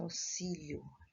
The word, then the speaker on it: auxílio: Aqui está escrito auxílio. Auxílio é escrito com X, porém o som é de dois S.